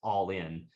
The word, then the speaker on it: Ollin: spelled o-l-l-i-n uh like almost sounds like Olin but it's actually pronounced all in like a-l-l-i-n and I'll